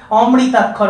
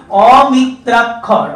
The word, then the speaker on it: অমিত্রাক্ষর: এবং মাইকেল মধুসূদন দত্ত যে অমিত্রাক্ষর ছন্দের অমিত্রাক্ষর এটা অনেকেই উচ্চারণটা ভুল ভীষণ কানে আসে। অমৃতাক্ষর অনেকেই বলে কিন্তু নয়। অমিত্রাক্ষর অর্থাৎ প্রত্যেকটা লাইনের শেষের যে অক্ষরের মিত্রতা সেটা স্থাপিত হচ্ছে না।